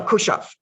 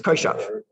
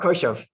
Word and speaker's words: Koshav: Ula bar, how you pronounce this word? Ula bar Kushav. I'm looking at the Hebrew, it's Koshav. Ula bar Koshav.